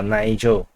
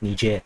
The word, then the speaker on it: Niger: on Niger I'm sorry Niger and basically uh Nigel or depending on how you pronounce the word but uh the correct pronunciation is Niger so anyway um from what if if you